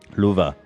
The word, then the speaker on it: Love: Yeah, the first one, Luve. Luva. Luva. Luve. Mr. Luva. This is why I don't. This is why I don't go by that. It's so hard for non-Swedish speakers to pronounce it correctly.